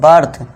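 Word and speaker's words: birth: अब देखिए बी के बाद आई है तो यहां पे क्या होगा साउंड इसका? आ का साउंड निकलेगा। तो इसे क्या पढ़ेंगे? बर्थ शॉर्ट आ का लॉन्ग नहीं शॉर्ट आ का बर्थ इस तरह से क्या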